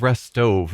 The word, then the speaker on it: Restov: She said restove, not rest. So, I guess I've been pronouncing it wrong.